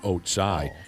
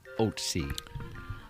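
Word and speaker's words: Ötzi: He says the mummy is the pronunciation of its name is oats, not oatsai. He learned about this uh some back in in high school.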